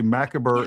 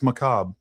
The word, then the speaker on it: macabre: And like somebody should be like, it's actually not pronounced that way. It's macabre.